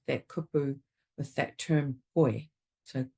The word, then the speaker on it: koe: So with pronunciation in Te Reo Māori also, when you get two vowel sounds together, it can be tricky. So with that kupu, with that term koe. So koe, so practicing the o